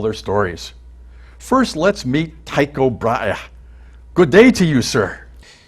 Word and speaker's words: Tycho Brahe: I'm Danish and my name includes two full glottal stops, which English speakers find difficult to say.